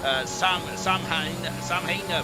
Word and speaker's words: Samhain: Fun fact, Halloween comes from an Irish pagan holiday called Samhain, pronounced Saw, not the Saw.